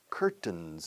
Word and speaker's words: curtain: Are there any curtains in your house? Curtains. Curtains. Yes, curtains. Cortinas, querrás decir, ¿no? Yes, curtain. 10, como el número 10, ¿no? Se escribe curtain. Se pronuncia número 10.